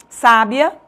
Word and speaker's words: sábia: Por exemplo, sábia é acentuado, paroxítono terminado de tom crescente.